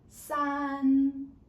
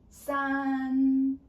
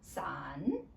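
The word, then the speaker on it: 三: Common mistake is like sun your voice was dropping then it was wrong. So you need to keep at that pitch. Okay? Don't go up or go down. Sun that is number three.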